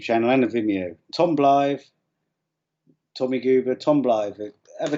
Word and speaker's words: Blyth: No, it's Tom Blyth.